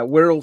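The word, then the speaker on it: Wirral: little things that these guys have invented uh WHL slot cars if you go to WHL WHL which is spelled w i r r a l the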